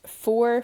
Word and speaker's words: fuar: So in this lesson, you've learned foor for cold, te for hot, shay for it, and you've also learned me for me.